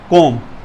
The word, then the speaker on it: comb: Friends, next हमारे पास है कोम, COMB। बी जो है ये साइलेंट होता है, हमने इसका जो सही प्रोनाउंसिएशन है वो कोम पढ़ना है।